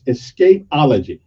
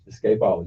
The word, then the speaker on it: Escapology: into the price so so it's it's escapology escapeology that's how it's spelled e-s-c-a-p-o-l-o-g-y okay ology so don't put that e on you yeah no no don't put the E on the Escape after uh after that